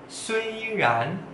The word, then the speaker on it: 虽然: Ya, walaupun atau meskipun, suiran, suiran, suiran. Sui nada satu, ran nada dua.